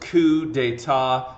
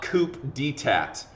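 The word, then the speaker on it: coup d'état: brumaire okay coup d'etat and remember that is pronounced ku de ta not coop dtat okay um you know so you know mr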